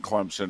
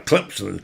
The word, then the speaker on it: Clemson: It's actually Clemson. Well, that's how they say it. In South Carolina, Clemson. They put a P in there.